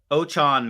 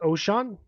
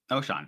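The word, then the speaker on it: Ochaun: pick and that is ochon Mathis Edge out of Nebraska I believe it's actually pronounced ocean okay I will trust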